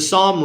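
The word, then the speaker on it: Sahm: And Psalm is spelled S-A-H-M.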